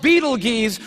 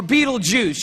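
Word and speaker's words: Betelgeuse: heard about this star it's called Beetle Gees or Beetle Juice you can pick your pronunciation I'm obviously going with Beetle Juice and Beetle Juice is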